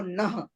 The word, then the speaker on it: नः: या तो हम लोग बोल देते हैं धियो यो न प्रचोदयात्, ना नहीं है, न।